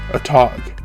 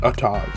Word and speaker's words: Atog: Atog. A quick note, I will be pronouncing it a tog. I do know there are people who say a tog.